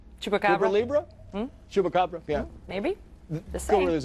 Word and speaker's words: Chupacabra: Chupacubra or however you pronounce that. Chupacabra.